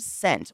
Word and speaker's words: scent: but that's just me in the word scent what letter is silent the s or the C the s the S is silent this is the way I have spoken it's the s ooh how tired are